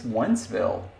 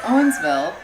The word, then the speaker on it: Owensville: I was so confused listening to you when you were saying it because, what is Onceville? Anyway, it's Owensville, and you can't say it Wentzville because there is a Wentzville.